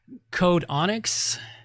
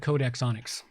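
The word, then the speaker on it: Codexonyx: and it comes from Code Onyx. Yeah, we'll go with Code Xonyx. Code Xonyx, there we go, Code Xonyx, since X always seems to be pronounced with a Z, you know, like xylophone.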